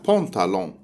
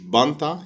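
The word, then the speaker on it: pantalon: الحاجة التانية ان في الفرنسي مش بس حرف النطق، هي حتى بونتالون. هي مش بانتا، هي بونتالون.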